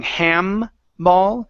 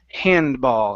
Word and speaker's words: handball: to you handball ok so here it sounded like you pronounced in EM saying ham ball so it's handball hand hinge ball hand bowl okay now open your mouth up just a little bit more for the AA handball hambo okay okay